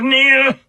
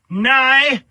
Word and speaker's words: Nihil: "We are Rivers of Nihil, sometimes pronounced Nigh, sometimes pronounced Nihil, sometimes even pronounced Nile. But it is Latin, meaning nothing.